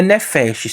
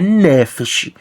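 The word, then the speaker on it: נפש: Não é nefesh.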